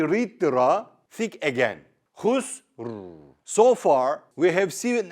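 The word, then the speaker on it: خسر: The next example is khusrin. Again, there is a stop here. So, you make the haraka of the Ra a jazm. Normally, you read it khusrin.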